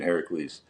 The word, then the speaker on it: Heracles: I'm going with the we're we're going the Yeah, the Greek pronunciation Heracles.